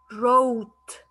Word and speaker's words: wrote: Wrists, ring, knit, knock, sign, wrote, W is silent, write, knife, knee, and nose.